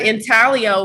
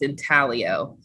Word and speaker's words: intaglio: to find out that the g is silent kind of like lasagna or um another word where the g is silent but in it's not it's not um pronounced in taglio it's in talio so i just thought